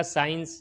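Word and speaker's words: science: इसी तरीके से सीन, सीन के अंदर क्या है, एस के बाद सी आया है तो साइलेंट हो गया है। इसी तरह साइंस, साइंस के अंदर भी एस के बाद सी आया है तो साइलेंट हो गया है।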